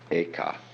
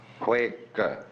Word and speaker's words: Huike: Bodhidharma had a pupil by the name of Eka, Huike in Chinese. Eka is Japanese pronunciation, like Zen is the Japanese pronunciation of the Chinese Chan.